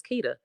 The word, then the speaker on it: Kita: Her name isn't even Quita; it's Kita.